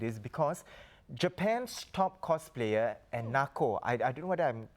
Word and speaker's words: Enako: This whole cosplay, how big it is, because Japan's top cosplayer, Enako, I don't know whether I'm getting it right. I think it's pronounced as Enako, right? Enako, yeah.